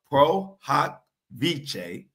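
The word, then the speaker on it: pro hac vice: Busby would just file a proot v and it's not spelled like that it's p r o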